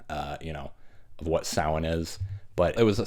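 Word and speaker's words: Samhain: Lumis pronounces it Sam Hayne, but it's pronounced sin.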